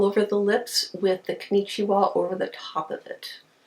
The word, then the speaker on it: Konnichiwa: And this one is their Hello Kitty, and I finally figured out how to say it, is Konnichiwa. Konnichiwa.